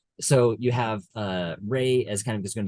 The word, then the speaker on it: Rey: So Rey, not Ren.